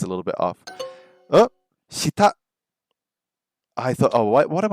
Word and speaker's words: 下: Hita. Hita means under. Is that right? Hita. 下 Hita. 下 The pronunciation sounds a little bit off. Oh, shita.